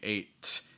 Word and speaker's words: eight: let the breath escapes like when you say eight instead of doing eight it's gonna be more eight eight i'm not letting the breath escape compare a word like for instance like um like hey versus hate hey with the a sound h-e-y hey versus hate hate which is more the held sound okay so definitely compare